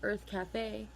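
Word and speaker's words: Urth Cafe: There's an area called Earth Cafe, which is very famous, and it's spelled U-R-T-H.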